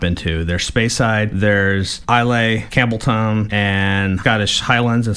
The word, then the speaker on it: Islay: ilay didn't you it it sounds I thought I said Isa Isa okay IL Isa IL well it looks like it would be pronounced IL but Isa okay is a magical